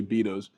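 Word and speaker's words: Beto's: we are at beos we got to pronounce it right we said Betos earlier but it's actually beos we saw everybody drinking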